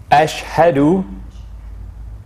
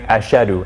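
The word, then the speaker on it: أشهد: on this one uh one common mistake we sometimes hear is uh is not quite saying the ha that's here so it's ash and then ha ha sometimes we hear people saying ashadu as shadow as if the the hat is not there but that is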